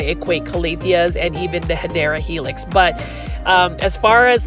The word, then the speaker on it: Hedera helix: But just like Hydra Helix, or the correct way to say it is Hedera helix or English ivy, these are plants that I obsess about.